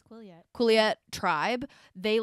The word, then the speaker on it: Quileute: Because they also, for everyone else in the Quileute, how do you say it, Quileute? I think it's Quileute.